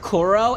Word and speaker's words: Kuro: had a cat named Kuro and we said Kuro with a more hard K and not the Q.